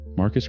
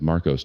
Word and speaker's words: Marcus: Marcus cried when he saw me. I cried when I saw him cry. The officiant mispronounced Marcus as Marcos twice, and we laughed both